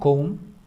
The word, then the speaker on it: comb: यहाँ देखिएगा comb उसको पढ़ते हैं, बी साइलेंट, comb, और अगर प्लूरल है तो वो combs हो जाएगा. combs बी को इनंसिएट या प्रोनाउंस नहीं करते हैं, तो इसलिए a comb